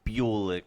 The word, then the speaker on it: Bulik: Bulock. Everyone calls me Bulock. So I just kind of embrace it, but it yeah, it's pronounced Bulick.